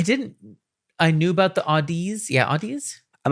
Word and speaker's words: Audeze: i'm not sure if it's odyssey or audi's i'm not sure that one i mean i had chris graham on the show and he he has a sponsorship with them and i think he pronounced them odyssey but i'll have to